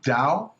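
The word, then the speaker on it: tao: definition of dao of dao yeah t-a-o is how you spell it the first thing you learn about dao the chinese will pronounce it dao like d-o-w is that you can't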